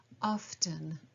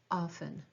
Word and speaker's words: often: Now the word often can also be pronounced often. I do believe the more traditional way to say it would be to have a silent T, often, but I do find myself saying it both ways.